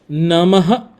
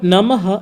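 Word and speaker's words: नमः: Om Namah Shivaya. So instead of Namaha, it will become Om Namah Shivaya.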